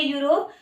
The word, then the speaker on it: यूरोप: Yes, country है ये यूरोप। यूरोप, ये स्पेलिंग तो ई से शुरू हो रही है पर साउंड यू का दे रही है, यूरोप। यस, इसको हम यूरोप नहीं पढ़ेंगे, यूरोप नहीं पढ़ेंगे बच्चों, गलत प्रोनाउंसिएशन नहीं करना।